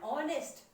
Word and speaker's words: honest: Do we say honest? No, we say honest. So honest pronunciation comes, H is silent, O is pronunciated. An hour, H is not, it's not hour, it's hour. So O-U-R is pronunciated, H is not pronunciated.